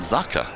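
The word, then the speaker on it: Jaker: is what is it it's spelled Jaa Ali anik but I heard his captain called him zaka and I'm looking I'm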